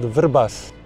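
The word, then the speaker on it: Vrbas: mhm uh I would try for you to pronounce the name of the river it's called verbas verbas yeah you're you did like a local you're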